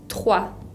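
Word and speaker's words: trois: que no se pronuncia el número 3 se dice jua jua en este caso tengo la combinación de ocón y que se pronuncia agua y la s final que no se pronuncia juan el número cuatro es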